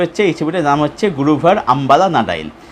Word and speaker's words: Guruvayoor Ambalanadayil: উচ্চারণটা হচ্ছে গুরুভায়ুর আম্বালা নাডাইল, যার অর্থ হচ্ছে গুরুভায়ুর টেম্পলের সামনে।